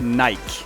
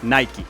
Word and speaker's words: Nike: Es muy interesante porque en Estados Unidos se dice Nike con la E al final, pero en muchas partes, por ejemplo en Europa, se dice solamente Nike.